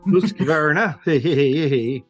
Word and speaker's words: Husqvarna: Husqvarna.